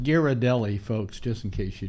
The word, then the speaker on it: Ghirardelli: that that's Pleasant yeah by the way that's pronounced Ghirardelli folks just in case you don't know I